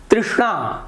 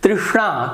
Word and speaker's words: तृष्णा: तृष्णा, तृष्णा, तृष्णा नहीं, तृष्णा, तो स को देखिए थोड़ा भारीपना यहाँ पे आता है।